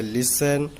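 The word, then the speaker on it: listen: अब टी, जब एस एफ के बाद टी आता है तो टी साइलेंट होता है। एग्जाम्पल जैसे लिसन, ऑफन, हैसन।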